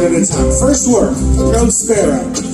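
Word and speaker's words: próspero: First word, prospero. The best way to remember this and to say it right is to imagine, like, you like birds, you like sparrows. You're prospero.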